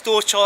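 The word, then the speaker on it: Dorćol: Yes, Dorchal, that's the right pronunciation.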